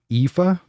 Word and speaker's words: Aoife: about it I'm capital it's pronounced Eva Eva so a OIF a is pronounced Aoife